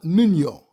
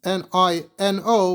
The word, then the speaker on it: Niño: The way you would spell it in English is N I N O. But the second N would have that tilda over it, that little swirl that tells you that it's pronounced N.